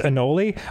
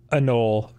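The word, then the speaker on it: anole: also i got it i'd always heard it pronounced anoli i think you're right it is a null uh here how to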